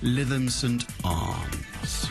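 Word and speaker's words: Lytham St Annes: Despite being in the north, Lytham St Anne's, it is the law that you pronounce it Lytham St Arms.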